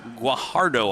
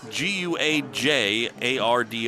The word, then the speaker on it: Guajardo: pronounce this guy's name it's gu guajardo I believe Gabe gu a j a r do o guajardo and boy that hit